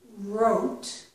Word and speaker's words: wrote: real real reason we wrote We Don't pronounce this W so it's as if it's starting with the r wrote will be revealed